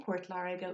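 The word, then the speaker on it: Port Láirge: So if the Uru for P is B, let's take an example of Port Lariga for Waterford, Port Lariga. In Port Lariga would be Bort Lariga.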